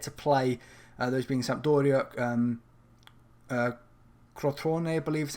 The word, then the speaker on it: Crotone: Those being Sampdoria, Crotone, I believe is how the name is pronounced.